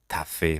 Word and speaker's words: tu as fait: tu as fait du bon travail به قول فرانسوی، یعنی تلفظاً تفه به جای tu as fait میگن تفه.